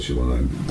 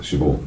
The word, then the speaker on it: Siobhan: Siobhan, I always call it Siobhan because that's the Scottish way of pronouncing it, Siobhan.